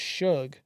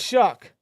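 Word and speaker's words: Shough: name I get it the GH his last name looks like it's pronounced Suge sh Tyler Shug Suge I don't freaking know what the sh so it's shuck what the shuck oh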